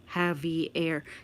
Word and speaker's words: Xavier: They treated the X sound like it was an H sound. Like Xavier in Spanish, it's pronounced Javier. Yeah, yeah, I have heard of that.